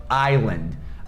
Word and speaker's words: island: Então, island, island. É a mesma coisa da palavra aisle. Aisle, que também tem um S e a gente tira na hora de falar, e aisle significa corredor.